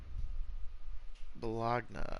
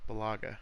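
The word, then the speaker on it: Bulaga: Bologna. I don't know how to say the last name. Balaga.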